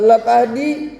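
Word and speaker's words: لَتَهْدِي: dan Sesungguhnya engkau Muhammad latahdi lamnya pendek dibacanya hati-hati membaca al-qur'an panjang pendek ng harus diarti lamnya pendek menandakan bahwasanya itu adalah taukid atau penguat dan Sesungguhnya engkau Muhammad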